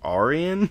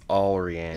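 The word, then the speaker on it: Allrianne: to the audiobook, so I was like, Arian? But it's Alrian. Yep. A-L-L-R-I-A-N-N-E. R-I-A-N-N-E? Yep. Alrian? Yes. Yeah, I guess that makes sense. At least that's how they say it in the audiobook.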